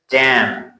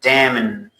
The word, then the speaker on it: damn: The next word is damn. You don't say damn. You say damn.